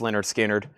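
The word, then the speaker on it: Lynyrd Skynyrd: I've got Elvis Presley, 500-piece puzzle, $24.99, and I've got Leonard Skinner, pronounced Leonard Skinner.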